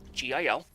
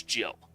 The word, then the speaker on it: Gil: It's called Gil in this game. G-I-L. For a long time, I thought it was Jill. For a very long time. Gil is how it's pronounced.